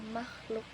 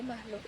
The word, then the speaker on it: makhluk: Contohnya pada kata makhluk yang menunjukkan bunyi agak berat di belakang seperti ada efek bunyi tenggorokan. Nah, jadi makhluk itu diucapkan dengan tekanan lebih di bagian belakang mulut.